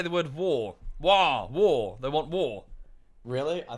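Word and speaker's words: Waaagh: You rocking that WOG? Yeah. War, not WOG. It's war.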